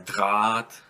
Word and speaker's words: Draht: So you might have words such as die Waage, der Draht. See, I don't pronounce ha, I just prolong the a here.